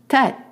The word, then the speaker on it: Tête: So it's the same pronunciation than A accent grave, E. Tête.